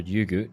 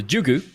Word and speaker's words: Jugu: If you're Danish, I think the J is pronounced as a Y. But considering they're called NepalEsports, I'm assuming they're not from Denmark. So Jugu, I'll pronounce his name correctly.